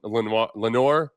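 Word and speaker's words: Lenoir: Then Pat Certan, AJ Terrell, and Len Lenor. Yeah, he pronounces it Lenor.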